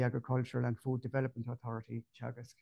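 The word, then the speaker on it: Teagasc: There's two universities in Cork, and there's also the Agricultural and Food Development Authority, Chagas, it's pronounced, where I worked myself many years ago as well.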